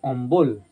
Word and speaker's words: অম্বল: অন্তস্থ ব আর এইটা যখন আমি উচ্চারণ করছি অম্বল তাহলে দেখো ব এর উচ্চারণ আসছে এইটা হচ্ছে বর্গীয় ব